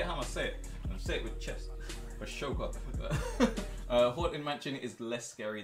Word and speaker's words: Ahsoka: The H in Ahsoka is silent. I don't care. Ahsoka is banging, bro. I'm gonna say it with chest. Ahsoka.